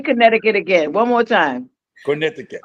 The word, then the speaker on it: Connecticut: way to say but we we say concut you know but I know it's Connecticut it's Connecticut I love